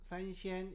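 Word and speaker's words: 三鲜: 다시 한번 얘기하면 마를컨, 간짜장, 산시엔, 중국어로는 산시엔 이렇게 읽습니다.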